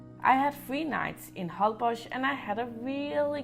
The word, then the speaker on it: Holbox: eat and some other good travel tips about Hull Bosh this it is a little bit funny the way the name Hull Bosh is spelled because you would normally pronounce it whole box but the Mexican pronounce it hauled Bosh hi